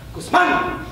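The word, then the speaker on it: Guzmán: And I'd repronounce it, giving full emphasis to the accent on that second syllable while throwing my right hand up into the air. Guzman!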